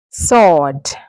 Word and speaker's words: sword: How do you pronounce it? Sword.